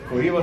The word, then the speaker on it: Oliva: What's the proper way to pronounce these Cubans? Oliva. Do you hear that? Sulimas. Oliva Sulimas.